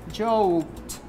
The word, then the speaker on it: joked: When you have K sound, sound K sound, we pronounce it like T. So we say joked.